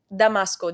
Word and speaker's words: Damasco: it's ju just my nickname Damasco. That's D A M A S O. Maybe we can leave somewhere. Yeah. Um that's the same Damasco for my email and um so it's contact